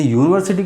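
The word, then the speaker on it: university: Magadh is यूनिवर्सिटी, अभी इसमें लगाना है AND, क्या लगाइएगा, आपको क्या मैंने बार बार बोला, ये यूनिवर्सिटी को जब आप उच्चारण करते तो क्या आता है, य आता है, य।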